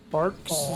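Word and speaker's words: Barq's: That I've never had. It's bark. Like what's on a tree.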